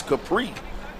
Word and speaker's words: Capri: Capri Dawkins Central State pronounce Capri like the Capri drinks Three Sons tell those